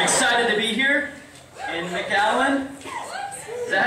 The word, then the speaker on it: McAllen: I'm excited to be here in McAllen. Is that how you pronounce it? Yes. I figured that's the way it would be, right? Not like McAllen.